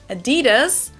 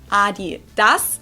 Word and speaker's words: Adidas: were referring to because they usually pronounce it Adidas and in Germany we say Adidas Adidas Adidas Adidas it's